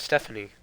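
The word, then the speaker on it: Stephone: Oh, it's Stephanie. Yeah, that is how you pronounce his name.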